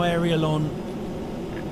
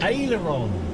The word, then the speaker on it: aileron: Is Is that not how Aerialon Aleron Alleron? How is it pronounced then? Let me have a look. Pronounce Aileron. Aileron. Aileron. Aileron. Aileron. Aileron. Thank you.